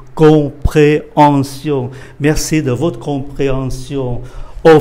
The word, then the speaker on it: compréhension: Chữ M mà đọc là N, chữ H này cơm. Do đó cái chữ này phát âm là compréhension. Compréhension.